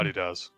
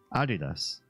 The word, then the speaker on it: Adidas: Adidas, the company, is named after its founder who pronounced his name the way Irish does. Oh. Which is how? Adidas. Adidas. Okay. Just different syllabic pronunciation.